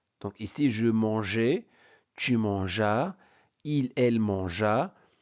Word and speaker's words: mangeais: Et regardez, on ajoute un E après le G pour éviter la prononciation manguer. Donc ici, je mangeais, tu mangeas, il, elle mangea, nous mangeâmes, vous mangeâtes, il, elle mangèrent.